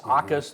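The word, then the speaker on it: Jacas: Aus. The J is silent.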